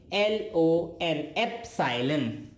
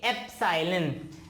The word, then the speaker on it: epsilon: इसका नाम बहुत सारे लोग गलत प्रोनाउंस करते हैं, मैं लिख देता हूं यहां पे, इट इज EPSILON, एप्सिलॉन, okay? एप्सिलॉन, and this is एप्सिलॉन नॉट।